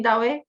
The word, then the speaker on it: Douwe: I'm pronouncing correctly, Douwe?